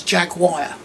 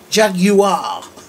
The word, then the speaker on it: Jaguar: I have no idea why Americans pronounce this Jaguar there's no I in it ah Jag you are not Jaguar there's no idea call